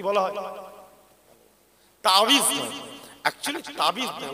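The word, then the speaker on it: تعويذ: এই তাবিজ আমরা বলি আমরা অনেকে তাবিজ তাবিজ করি একচুয়ালি উচ্চারণটা হচ্ছে তাবিজুন তাবিজুন তাহলে আল্লাহর কাছে পানা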